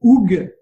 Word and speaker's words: hygge: Alors aujourd'hui, on va parler d'un truc venu du froid qui s'appelle le hoog. Je prononce bien au félicit.